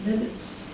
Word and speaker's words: debt: You are liable to pay your son's debts as here on the H. Right. Just that word debt, the B is silent.